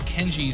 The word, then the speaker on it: Kenji: know my name nope i'll give you a hint it rhymes with benji totally don't care but i'll just be mentioning him as kenji throughout this video since